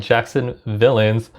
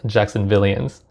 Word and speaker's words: Jacksonvillians: describe themselves here uh it looks like it's spelled jackson villains but i'm gonna say it's jacksonvillians or apparently jackson is the